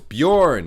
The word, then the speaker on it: Björn: Bro, it's Bjorn, my guy.